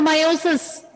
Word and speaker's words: meiosis: Mitosis or meiosis? Meiosis. Meiotic division will take place. E is silent in meiosis.